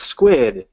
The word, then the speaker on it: Skuid: Is it Skuid? It's Squid.